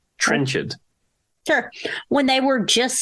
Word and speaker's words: Trenchard: It's Trenchard. Trenchard.